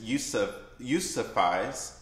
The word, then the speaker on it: Yousafzai: So Nobel Peace Prize winner Malala Yousafzai, and excuse me for not pronouncing her name right, but it's Yousafzai, best-selling memoir, now abridged and adapted for newly independent readers.